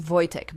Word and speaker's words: Wojtek: They named him Voytech, which is spelled W OJ T, but pronounced Voytech because Polish spelling runs entirely on chaos and vibes.